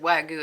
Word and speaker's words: Wagyu: And beef, you've got, and I read online, they said Wagyu is how you pronounce it, but they said that's on par as a really incredible quality beef, up where Angus is.